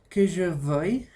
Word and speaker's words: veuille: Vamos, el siguiente también tiene una peculiaridad con la pronunciación, ¿no? El verbo vouloir. Repite après moi. Que je veuille, Que je veuille, eso.